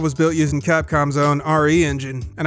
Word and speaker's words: RE Engine: built using capcom's own re engine and i guess it's pronounced re-engine because it's short for reach for the moon not resident evil like i thought the re-engine is based